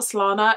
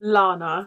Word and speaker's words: Lana: I always say my name as if it's like Slana. I promise you my name is not Slana, it's Lana.